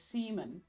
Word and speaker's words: Simon: You pronounce Simon as Seaman.